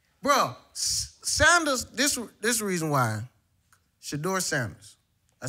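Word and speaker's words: Shedeur: Shador Sanders.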